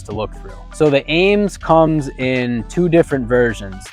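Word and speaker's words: AEMS: have seen this optic it's spelled a-e-m-s but it's pronounced Ames now the Ames is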